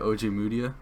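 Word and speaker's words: Ojemudia: OJ Mudia?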